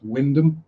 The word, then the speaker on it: Wymondham: And Christ, Wyndham, Jesus. It's spelt Wymondham.